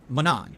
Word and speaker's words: Manon: It's pronounced Manon. That's how you pronounce her name, Manon. Not Manon, it's Manon.